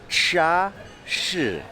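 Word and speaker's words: 茶室: And I was asking this gentleman how you pronounce it, so it's Cha Shi.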